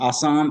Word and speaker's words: Assam: And it's pronounced Assam.